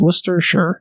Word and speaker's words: Worcestershire: well then worcestershire sauce worcester worcestershire two syllables worcester sure worcestershire there you go sauce i i still no one has corrected me that say i'm wrong about now you're saying it right that's how i that's why and it's like i guess in england they don't say shire they say sure so i guess that's